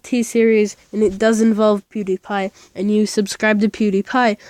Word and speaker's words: PewDiePie: I mean no restart PE w d IE p IE so it's puke then die and pi pewdiepie don't ask why die